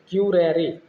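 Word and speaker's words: curare: curriculum शब्द Latin भाषा किस शब्द से देखिए ये भी रिपीट हो गया क्यूरे ये शब्द है लेटिन भाषा का ये आपसे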